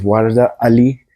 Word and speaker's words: Warda Ali: We're sitting here with Warda Ali. Do I pronounce it right?